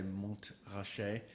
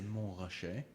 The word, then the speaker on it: Montrachet: People love that, and there's many different ways of pronouncing it. So if you say Montrachet, then it's a bit of an insult. You should really say Montrachet.